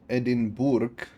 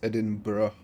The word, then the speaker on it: Edinburgh: know that from but edin Bor you pronounce edin BR edin Bor you read as edin for some reason I I